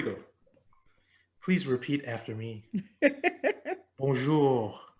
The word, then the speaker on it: bonjour: please repeat after me bonjour bonjour almost you're almost not saying the n make it a nasal sound try to make the first syllable come through your nose bonjour bones foreign i believe